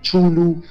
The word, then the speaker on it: Cthulhu: Es difícil mencionar a Cthulhu, ya pronunciarlo, porque muchos dicen Cthulhu, muchos le dicen Chulu, muchos le dicen Cthulhu.